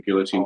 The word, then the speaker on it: Guillotin: There's no E on the end. Yes. But guillotine is spelled with an E, at least in English. And Gillon Gillon is spelled without any.